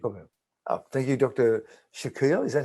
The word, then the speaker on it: Shaquille: Shaquille. Is that how you pronounce it? S-H-A-Q-U-I-L-L? Yeah, Shaquille.